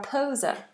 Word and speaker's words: pose: pose pause pose pause notice how those s's are sounded like Zeds pose pause stop it